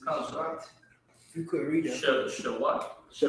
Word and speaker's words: Shabbat: So this is one word, Sha, and then the Ba and the Ta are connected. So it's Shabbat. Right? Read the definition for me. Shabbat. Shabbat.